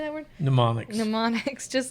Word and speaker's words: mnemonics: Good little mnemonics.